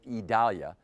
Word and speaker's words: Idalia: here's the latest on idalia that's how we're being told to pronounce it idalia tropical storm winds are